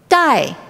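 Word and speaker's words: 代: Ribbon or a sash in Chinese is pronounced dai. Dai can be a sash, or another word pronounced dai means generations.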